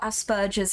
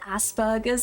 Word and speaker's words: Asperger's: We pronounce it Asperger's in America, I guess. Isn't there a P in there?